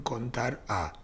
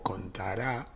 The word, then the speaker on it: CONTARA: Contar sí conjunto también amerita un video aparte, pero acá está la función contar a o contará, algunos le ponen el acento en la A, yo prefiero llamarle contar a o contar alfabético.